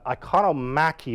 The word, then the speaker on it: iconomachy: Yeah, Iconomaki is the term I think is better. It's Iconomachy. So the struggle over images rather than iconoclasm, which is the actual destruction of images.